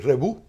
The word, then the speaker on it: Rebouc: Y se escribe Rebouc. Y entonces se pronuncia Rebú.